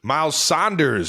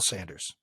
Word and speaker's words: Sanders: is Pascal Isaac sayamalu mile Sanders it's Sanders do you watch any of our